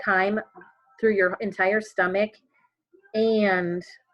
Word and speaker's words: chyme: y MV p-- I'm not chime like music but time is how you pronounce that and it's called chyme through your entire stomach